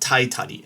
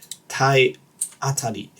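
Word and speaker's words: 体当たり: I've heard it a lot, but this misspelling of taiatari, okay, it's not taitari. I know lots of people, especially here in the UK, for some reason, seem to pronounce it as taitari, but it's not taitari. It's taiatari.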